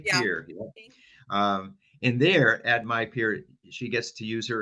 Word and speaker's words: MyPIR: Jolie Fader is the Western Mass Young Adult Regional Peer Recovery Specialist with the Massachusetts Young People in Recovery, also called My Peer, which is spelled MYPIR.